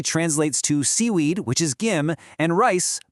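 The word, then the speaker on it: 김: Just remember to hit that hard G and B sound.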